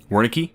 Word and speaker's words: Wernicke: personal records of doctor it's not pronounce wernick how did they say it Wernicke yeah Wernicke Dr Wernicke Frankenstein or